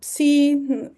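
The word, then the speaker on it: ψ: La psi, que pueden encontrar en muchos lugares de psicología, en muchos logos de psicología, y se pronuncia tal cual, como ps, como en psique.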